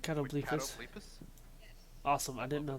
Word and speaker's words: catoblepas: That's the actual pronunciation. Catoblepas.